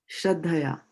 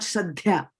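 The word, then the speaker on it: श्रद्धया: This is Shraddha. There is a double D here. Shraddhaya. And then Dhaya. It's not Shraddhya.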